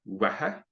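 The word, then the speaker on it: uaithi: From her, wehe. The TH here in Irish is always an H sound. So you have the we for UAI, and then he for the end of that, wehe.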